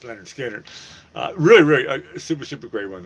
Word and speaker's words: Lynyrd Skynyrd: Anybody can pronounce Leonard Skinner.